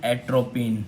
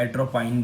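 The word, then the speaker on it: atropine: Okay, इसके examples हैं antibiotics, इराइथ्रोमाइसिन and bacitracin and एट्रोपिन, या एट्रोपाइन भी आप इसको जैसे प्रोनाउंस करना चाहें।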